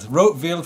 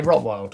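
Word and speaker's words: Rotwild: That's the first time I've ever realised that's how you say it. Rotfield. I always used to say Rottwild.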